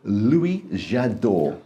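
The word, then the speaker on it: Louis Jadot: We are going to talk to you about a very posh wine, a Macon Village by Lois Jadot.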